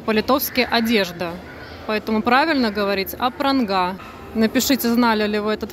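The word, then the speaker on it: Apranga: Поэтому правильно говорить Апранга.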